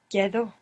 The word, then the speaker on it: quedo: The E doesn't split here, but good for trying. Quedo. Quedo. I remain myself. Me quedo. Me quedo. This means I stay. Me quedo.